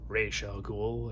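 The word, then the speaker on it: Ra's al Ghul: screen for the first time as well as Rozal Ghoul or Ray Shel Ghoul if you want to be uh very accurate to the comic pronunciation.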